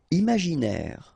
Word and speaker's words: imaginaire: Imaginaire. Final E not pronounced. Imaginaire.